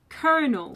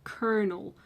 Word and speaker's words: colonel: It's spelled like colonel, but it's pronounced kernel.